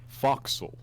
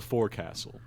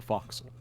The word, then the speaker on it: forecastle: where I've put Jimmy how do you think you're supposed to pronounce that I'll give you a hint no no say it foxel what it is not The Forecastle it's the Foxhole what there's also Old